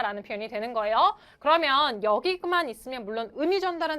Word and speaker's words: 有: 거기 you라고 발음하시는 분들 분필이 있었으면 진작에 날라갔어요. 발음은 어떻게 돼야 돼요? 여 발음은 여 좋습니다.